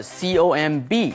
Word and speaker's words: comb: 接下来我们来看 comb 梳子，这种梳子是扁平式的，然后一根一根一根这样，通常是男生用的哈。comb 要小心它的发音，中间是长母音 o，接下来的 comb 最后的那个 b 子音是不发音的 comb。动词、名词都是这个字。You can use a comb to comb